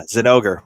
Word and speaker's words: Zinogre: another 20th anniversary one another re-release of the Zinogre is that how we're pronouncing it yeah Zinogre yeah that's right um this thing I love